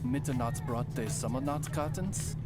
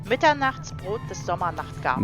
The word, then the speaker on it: Mitternachtsbrot des Sommernachtgartens: It actually would sound like this. Mitternachtsbrot des Sommernachtgartens.